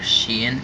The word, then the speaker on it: Shien: is legendary six samurai shien are she in yeah that's how you say it this card is a